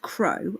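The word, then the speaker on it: Crau: so the champagne of hay what is crohe crow pronounced crow okay is a hundred percent organic meadow hay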